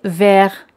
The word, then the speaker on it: vert: Verde se dice vert. T al final siempre no se pronuncia.